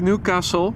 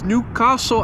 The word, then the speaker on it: Newcastle: Andra 175 going to Newcastle but since it is British I was told recently in the chat that I should pronounce it as Newcastle and not New Castle tomato tomato potato potato